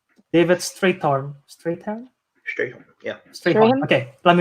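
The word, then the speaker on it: Strathairn: David Strathern.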